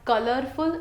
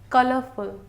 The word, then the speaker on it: colorful: When we pronounce colorful, don't pronounce the word R in that, because any word after the vowels, so their R cannot be pronounced. It is not colorful, it's colorful.